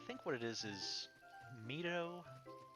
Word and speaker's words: Mido: what it is is mido sounds more like how i would expect the japanese reading of that to be and that's also how i tend to pronounce the um the town and zelda ii but mido just sounds more like a name like a western name i guess forest training